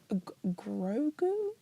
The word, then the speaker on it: Grogu: The worst person to ask about this, because I'm like, what, Grogu? Yeah, Baby Yoda. Yeah, well, you got the pronunciation right.